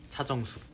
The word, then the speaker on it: 차정숙: 아니 닥터 닥터 닥터 차정숙 보고 있어요. 말이 헛나왔네. 어 죄송해요. 아, 진짜 죄송해요. 닥터 차정숙 봤어요. 발음에 주의하세요. 타정숙 아니고 아 놀리지 마.